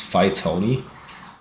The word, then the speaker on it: Phytony: And their Discord username is Phytony, which is spelled weirdly, but it's Phytony. And the mnemonic device is that, much like the titular character of the Lin-Manuel Miranda musical Hamilton, Lin fights on.